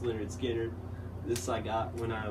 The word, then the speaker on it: Lynyrd Skynyrd: you probably all seen Lynyrd Skynyrd pronounced Lynyrd Skynyrd this I got when